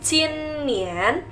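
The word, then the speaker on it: 今年: Lalu tahun ini kita bacanya jin nian.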